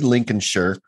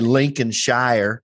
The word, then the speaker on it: Lincolnshire: was born in Grimsby Lincolnshire because that's how they say it I would say Lincolnshire Lin Shir like Mike headphones mik